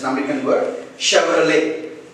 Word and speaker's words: Chevrolet: It's an American word, Chevrolet. The letter T is silent here.